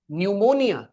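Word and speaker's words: pneumonia: वैसे वो निमोनिया की स्पेलिंग पी से चालू होती है। पी एन ई यू न्यूमोनिया।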